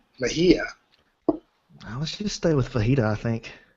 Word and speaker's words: Mejia: last name is U Mahia um m e j i a The J sounds like an H so kind of like jalapeno you wouldn't say Chapo the way you're saying